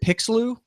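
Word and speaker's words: Pixloo: Is that how you pronounce it? Correct. Yep. And then the company that I think you sold is it Pixeloo?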